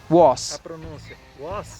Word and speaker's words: was: assim o as e a pronúncia desse a é um som de ó é com sua 5